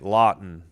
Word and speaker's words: Lawton: Oh, it is Lawton. Okay. I was right. Lawton. Emphasis on the first syllable.